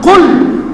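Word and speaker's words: قل: হে রাখাল শব্দকে পরিবর্তন করে দিয়েছে যেমন সঠিক উচ্চারণ করতে না জানলে আরবি শব্দের অর্থ ভিন্ন হয়ে যায় ঠিক কিনা যেমন কুল হে নবী আপনি বলেন হু আল্লাহু আহাদ আল্লাহ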